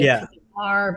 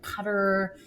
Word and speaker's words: Qatar: I want to say Qatar, but Cutter.